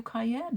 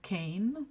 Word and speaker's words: Cayenne: stood arching her back can i bribe you to pronounce it like kane the correct way kane and by the way that's spelled k-a-y-n arched his brows for